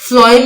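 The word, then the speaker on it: phloem: फ्लोएम में जब हम बोलते हैं प्रोनाउंसिएशन इसकी, तो एफ की आवाज आती है, ठीक है, एफ की जो है वो साउंड आती है, तो आप एफ से याद रखते हैं, एफ फॉर फूड।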